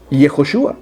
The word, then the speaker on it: Yehoshúa: es hijo su a así se pronuncia yehoshúa y eso no tiene traducción se debe decir así en todos los idiomas del mundo entonces estos los pastores